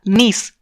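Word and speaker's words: gneiss: जब मेटामॉर्फोसिस होगा तो वो बनेगा नीस। ठीक है, जी इसमें साइलेंट होता है।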